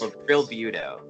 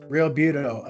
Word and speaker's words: Realbuto: Realbuto. Realbuto, accomplished actor, screenwriter, stage and screen, and he and I actually have a lot in common.